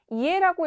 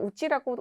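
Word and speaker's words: 家: 이에라고 읽기도 하고 우찌라고 읽기도 합니다. 이에라고 읽는 경우에는 보통 물리적인 집을 뜻할 때 이에라고 많이 표현을 하고 있고요. 자, 우치라는 것은 심리적으로 우리 집을 나타낼 때 우치라고 많이 표현을 합니다.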